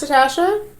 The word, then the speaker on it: Natasja: It's pronounced Natasha. And pronounced Michelle.